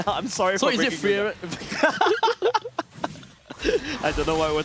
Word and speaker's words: Frieren: Frieren. Frieren. Okay. It's like fear, run.